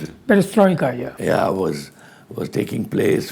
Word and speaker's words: Perestroika: But before that, he was a big stint in Moscow with the Patriot, and the time when Perestroika, how do you pronounce it? Perestroika, yeah.